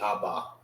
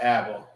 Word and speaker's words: Abba: It's not aba. It's aba. That's how you say it in the Hebrew.